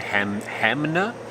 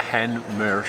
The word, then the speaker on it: Hanmer: A lot of people say Hamner. That's quite weird the way that's spelled, but Hanmer Springs.